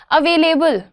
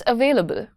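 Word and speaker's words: available: अ लॉट of times people से, अवेलेबल। अवेलेबल क्या होता है? इट्स अवेलेबल।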